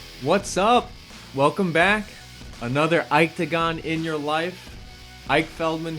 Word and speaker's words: Iketagon: up welcome back another Ike to GaN in your life Ike Feldman here from octagon calm i ke ta gon you guys are learning how to spell it it's not octagon its octagon I'm now in